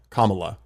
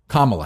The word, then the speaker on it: Kamala: It's like comma the punctuation mark la. Kamala commala Harris.